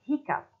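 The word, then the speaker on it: hiccough: So we've got off, we've got off, and in the word hiccup, which is sometimes spelled like this, is pronounced up.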